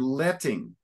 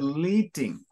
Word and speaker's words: letting: to that word letting here's another you said leading so first of all that it would be like to be leaked it would be l-l-e-e-t all right it's only one e and then they also make it very clear with two T's then with two consonants then the vowel sound is often almost always closed so instead of